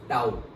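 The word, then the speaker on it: tau: इसको प्रोनाउंस कैसे करते हैं, टाउ, ओके, और से टाउ।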